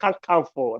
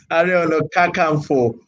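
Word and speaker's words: Ààrẹ Ọ̀nà Kakanfò: not Kankanfo. That's Igbo pronunciation. The Are no. Kakanfo, not Kakanfo. It's our Igbo brother that called me Kakanfo. Are Onakankafo of Yoruba land.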